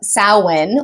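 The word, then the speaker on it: Samhain: to call it of Sinn which is spelled Sam Hayne s a m h a i n put it right here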